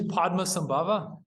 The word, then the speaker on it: Padmasambhava: Because reading the article, like trying to memorize that sequence of syllables and saying it correctly was challenging. But Oh yeah, his name's Padmasambhava.